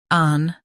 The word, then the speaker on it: Anthropic: An-thro-pic. Anthropic. Stress throw and keep peak light. The H is silent. An-thro-pic. Anthropic.